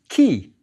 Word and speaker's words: ky: Yep, key. The basket is the K, and the double reed leaf, the Y. We put the short E to get key.